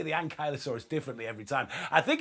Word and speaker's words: Ankylosaurus: know I always I I always say the Ankylosaurus differently every time I think if we look it up it's ankylosaurus but you know it you know it's horses for courses because pronunciations and accents are all the rest kick